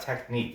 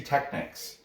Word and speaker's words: Technics: technique or technique yeah gracie tech is not technique it's spelt technic gracie technics technics jiu jitsu gracie technics jiu jitsu